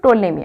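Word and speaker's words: Ptolemy: then third के आसले टोलेमी आंक ना कोन टोलेमी पी हमर प्रोनाउंसिएशन हमर रहिबो साइलेंट रहिबो देन हम ताको पढ़िया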